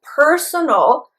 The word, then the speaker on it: personal: Also, you have to be careful with the pronunciation, because personal, in that word, the stress is on the first syllable.